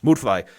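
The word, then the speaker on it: Müdfly: Blair would fly mood fly yeah that's how you say his name mood fly he's over he's over the top cartoonish too he has this jealousy of dr.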